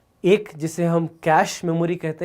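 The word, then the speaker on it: cache: एक जिसे हम कैश मेमोरी कहते हैं, याद रखिएगा इसका प्रोनाउंसिएशन जो है वो है कैश।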